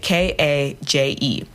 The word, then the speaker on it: KAJE: And when I introduce myself as KAJE, people are like, huh, that's weird. Like, you don't seem like someone who's very caged. But it's spelled with a K and a J, KAJE.